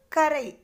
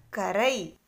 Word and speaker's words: கரை: இருக்கிறது என்னன்னு சொல்லணும்னு சொன்னேன் கரை எப்படி சொல்லணும் கரை ரை சின்ன ரைனா சாஃப்டா சொல்லணும் சொல்லுங்க கரை இடையின ர அதனால எப்படி